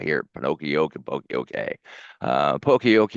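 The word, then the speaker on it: Poka-yoke: I looked it up yesterday to see how to pronounce it because I hear Pinocchio and Poke. Uh Pokeyok, it's errorproofing.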